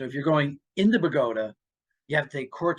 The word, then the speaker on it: Bogota: outside of the tri-state area it looks like Bogota just like Colombia but no in Bergen County we pronounce it Pagoda so anyway so he lived right on river